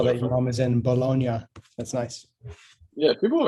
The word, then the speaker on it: Bologna: I saw that your mom is in Bologna. That's nice. Yeah, people have asked me how to pronounce that word too. They're like, is it bologna? And I was like, no. Bologna? No, it's not bologna.